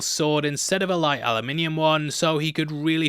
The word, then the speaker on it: aluminium: instead of a light aluminium one, so he could really feel the weight of it. Aluminium. You better not be writing it's pronounced aluminum in the comments, I'll bloody get you.